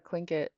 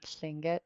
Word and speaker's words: Tlingit: They ended up putting a TL, and then over time that TL started to get pronounced as a K. And so it's just an historical, I don't know what you would say, outcome of kind of anglicizing Tlingit, the word for human